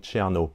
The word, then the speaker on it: Chernow: Bonjour, aujourd'hui on va voir la a la biographie de Mark Twain de Ron Cherno. Ça s'écrit now N en anglais.